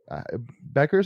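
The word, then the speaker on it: Bueckers: think uh Paige Beckers Beckers I think is how you say her last name yeah uh you know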